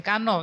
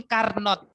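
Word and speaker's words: Carnot: tapi Kalian Dengar pasti mesin carn Iya toah penyebutannya salah seperti itu mesin harusnya cara bacanya kalau cara tulisannyaang sudah benar kan untuk aplikasi hukum pertama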